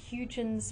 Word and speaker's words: Huygens: Then the last point we have down there is, and I'm going to try my best to pronounce this, Huygens principle.